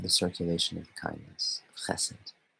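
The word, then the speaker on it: חסד: Chesed. Chesed, you guys. I don't know if any of you guys only got into Kabbalah from like pagan sort of hermeneutic stuff. It's pronounced chesed, not chesed.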